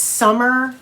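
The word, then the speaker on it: Sommer: Do you think it's Summer and it's just spelled with an O? I always feel like Suzanne Summers, like you know, Thre's company, but she's Suzanne Summer. S O M M E R and there's no S.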